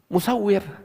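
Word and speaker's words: مصور: Dari segi tulisannya, mim, sin, waw, ra. Ya kan? Nah, ada lagi, ya, musawwir. Tulisannya sama, cuman pengucapannya beda.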